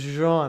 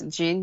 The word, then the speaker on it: Jeanne: stream started, you're like, "By the way, it's is Jean." I'm like, "What?" Every stranger speaking stranger pronunciates Jin because it's it's I mean it's not obvious when you don't speak French, so it's fine.